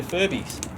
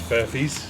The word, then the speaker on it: Furfies: Hey, I said it right. Yes. I didn't say Furbies. Yes, it's Furfies. Furfies.